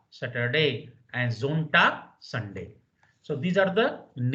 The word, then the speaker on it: Sonntag: S at the beginning Samstag, in German Sonntag. is pronounced like Z. So please remember the pronunciation will be Samstag. Z, Samstag. And Sonntag.